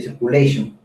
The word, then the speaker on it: circulation: Viene una palabra en inglés que es de aire, y B es de breath, también de respiración, y C de circulation, así se debe pronunciar, que es circulación RCP.